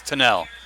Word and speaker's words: Tennell: Yeah, it's Tennell. It's Tennell. I know who it is. I know. I always say it wrong.